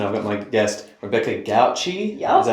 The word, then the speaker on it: Gauci: My name is Brennan Van Witchen and I've got my guest Rebecca Gouchi.